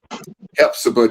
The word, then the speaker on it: Hephzibah: Hephzibah, just like in the Bible, Hephzibah.